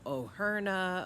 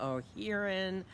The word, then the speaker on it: O'Hearn: I get called O'Herna, O'Herna, O'Hearn. It's O'Hearn.